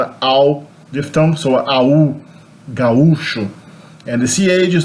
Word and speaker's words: gaúcho: But in Brazil we say gaúcho. There's a hiatus there, not an ow diphthong, so au, gaúcho.